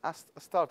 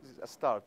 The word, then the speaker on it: Astarte: How you say it in English? Astarte, am I right? Used with the Hebrew pronunciation, or the English one, I think is Astarte.